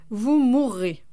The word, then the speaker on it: mourrez: Attention toutefois, certains verbes, comme courir ou mourir, doublent le R, et se prononcent donc « je courrai, vous mourrez ».